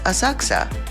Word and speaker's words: Asakusa: We'll also take you to Asakusa area, or how it's locally pronounced as Asakusa.